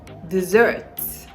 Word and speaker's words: dessert: dessert dessert dessert dessert to ignore the s the sound there is the z sound so dessert dessert the stress is on the second syllable dessert D zert okay how about this word